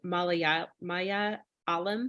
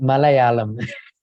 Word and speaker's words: Malayalam: How do you pronounce it properly? Maya Alam? Malayalam.